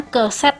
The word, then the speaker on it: keset: Itu bacanya keset ya.